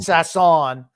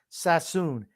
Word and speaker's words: Sassoon: know what a sass on gene is not sass on sassoon s o s-o-o-n is soon soon okay look at how that's spelled it's not exactly s-a-s-s-o-o-n sassoon nazis do